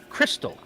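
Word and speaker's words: Krxstxl: l confused yes I am the name is pronounced Crystal I already don't like that name because it's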